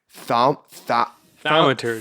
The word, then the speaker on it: thaumaturgy: Everyone is in consensus. This is how you say it. It's thaumaturgy.